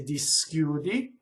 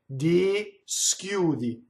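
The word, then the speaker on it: dischiudi: Notice where I put the S. When I speak, I could say di schiudi. The S hisses on the first syllable. When I sing, di schiudi, di schiudi. The S is totally on the second note, not the first note.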